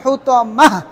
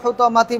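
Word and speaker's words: الحطمة: সবগুলো শেষে কি হবে? হা উচ্চারণ হবে থেমে গেলে। না থামলে ওয়ামা আদরাকা মাল হুতামাতি বলে সামনে চলে যাবেন। থামলে হা, না থামলে আগের মতোই যেটা আছে তা।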